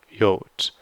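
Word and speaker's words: Jot: Jod. The Jod in German is always a y sound, never a j sound.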